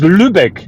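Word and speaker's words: Lübeck: to yeah Jonathan where is this that is Lubec that is a a city in the north of Germany how do I spell that l u b e c k yes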